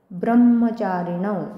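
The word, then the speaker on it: ब्रह्मचारिणौ: त तापस दोन मात्रा ब्रह्मचारीण आता ब्रहला म जोडला तिथे ब्रह्म जोडाक्षर आहे ब्र म्हणताना पुन्हा ब्र वर पण आघात येल ब्रह्म चारण पुत्र हे रसव्याचा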